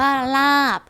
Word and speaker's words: ลาบ: บอ ไบ ไม้ ค่ะ คำ ว่า ลาบ พอ สำเภา เป็น ตัว สะกด แต่ ออก เสียง เป็น บอ ไบ ไม้ เช่น กัน ค่ะ คำ ว่า กรอบ รูป